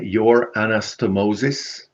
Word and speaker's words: YourAnastomosis: story so first of all did I correctly pronounce the name your anastomosis yes actually it's it's the combination of two